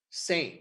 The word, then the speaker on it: SAME: we come to the same project which stands for self-assembling machine learning environments the l is silent um with same what